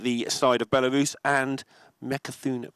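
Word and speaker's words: Mecha'thun: side of Belarus, and Mekathun Priest. Did I say it right?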